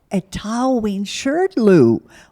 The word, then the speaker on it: Etaoin Shrdlu: are the leader of the band the name pronounced aten aten Shero a to Shirl where did you get that name yes well